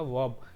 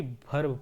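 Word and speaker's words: verb: आप लोगों को दिखेगा वर्ब। क्या पढ़ेंगे दोस्तों? वर्ब पढ़ेंगे, ना कि भर्ब पढ़ेंगे। कहीं ना कहीं आप लोग सुनते होंगे कि भर्ब बोलते हैं, भर्ब नहीं होता, वर्ब होता है, आर साइलेंट होता है।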